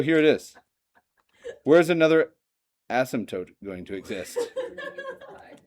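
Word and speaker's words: asymptote: It has two syllables, but you might think of it with three. My student teacher that that's Oh, yeah. There you go. There's an asmtote.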